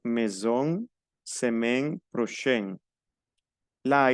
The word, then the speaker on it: maison: Bueno, tenemos la A y la I, se pronuncia E. Ejemplo, maison, semaine, prochaine.